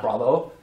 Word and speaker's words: bravo: It's not alpha, it's alpha. It's not bravo, it's bravo.